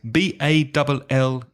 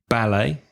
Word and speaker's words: ballet: Another word, B-A-L-L-E-T. In British English, ballet. And in American, stressing the second syllable, ballet.